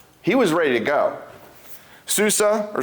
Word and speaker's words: Susa: Susa or Susan as it's usually pronounced was the winter capital and that's where they were at this time.